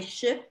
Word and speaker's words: ship: Porque ship es barco y es, se pronuncia con la I corta. En otras palabras, no con la the vowel, no con la vocal que estamos practicando.